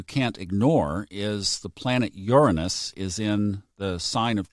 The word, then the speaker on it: Uranus: I looked it up, and if you look at the Miriam Webster dictionary, it's Uranus.